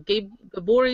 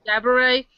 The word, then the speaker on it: Gabourey: Like with Coven, they could give Coven to I keep saying her name wrong. Gabori Sidibe? Cabaret Sidibe. Gabourey.